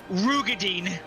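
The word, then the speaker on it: Roegadyn: crisis over the word Rogadin. Oh no, how's it pronounced? It's not even the first time they've said it. They've said it twice in the game now. Apparently it's Rugadine.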